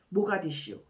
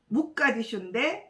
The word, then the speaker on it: 모가디슈: 모가디슈, 아프리카의 뿔이라는 아주 멋진 닉네임을 가진 이 도시 이름인데요. 이 아랍어로는 무가디슈인데 2차 세계대전 때 영국군들이 이제 점령함으로써 이제 영어식 발음인 모가디슈로 이렇게 이제 이름이 정해졌다고 합니다.